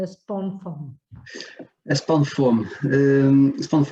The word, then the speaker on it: Spawnfoam: SPOFOAM.